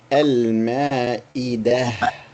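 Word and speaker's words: المائدة: And if you stop completely, you say al-ma'idah. You do not pronounce the dhamma, and this is a ta marbuta. Ta marbuta at the end of the word. Once you stop, you reduce it to a ha.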